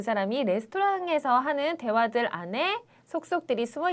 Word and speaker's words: レストラン: 그래서 여기서도 레스토랑 응까지 해서 5박자로 발음을 하시는 게 훨씬 더 좋은 발음이 될 것 같네요.